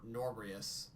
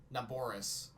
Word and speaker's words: Naboris: I can calm Norbrius. Is that how you... Wait, hold on. How do you pronounce it? Naboris.